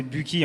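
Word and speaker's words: Büchi: Donc Buchy, société suisse, prononcée Buchy en Suisse allemande, société qui a plus de 75 ans d'existence et innovante par nature.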